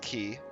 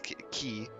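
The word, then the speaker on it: quay: flood walls quit it's it's pronounced key I also have to stop myself it's key we have one of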